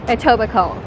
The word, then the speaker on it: Etobicoke: where is a suburb outside of toronto it's pronounced etobicoke and what i love about etobicoke is that